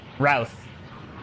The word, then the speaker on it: Routh: It's pronounced like South, but starts with an R. Routh.